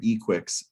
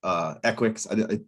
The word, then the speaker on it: Equix: It's Equix. We're going with Equix because that's how it looks.